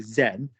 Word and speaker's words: Zen: Yeah, and because it's from a foreign culture, and it's like Zen, but you know, that's why we say Zen rather than Zon or something like that.